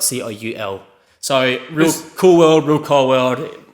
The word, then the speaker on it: Coulworld: run out of my camera um it is pronounced cool world and your last name is called [ __